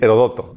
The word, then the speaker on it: Heródoto: Ah, sí, Heródoto, con acento en la O.